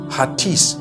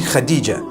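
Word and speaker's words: Hatice: across the name Khadijah in Turkish some people spell it h a t i c e I would say hatis for that no it's actually Khadijah in Turkish that's the way they write it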